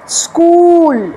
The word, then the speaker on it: school: তারপরের ওয়ার্ডটা হচ্ছে স্কুল, SCHOOL, দুটো ও আছে, সুতরাং সেটা হচ্ছে স্কুল, লং হবে।